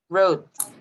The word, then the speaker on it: wrote: this word but you don't have to say the w so it wrote got it she wrote